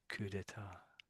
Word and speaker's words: coup d'état: Oh, that's with an S there. So I don't think there's any difference, is it? Coup d'état. coup d'état, So there's an S there. It makes no difference to the pronunciation.